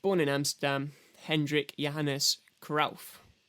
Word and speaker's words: Cruyff: in Amsterdam Hendrick Johannes kuralf I didn't know it's supposed to be pronounced krough I'm not going to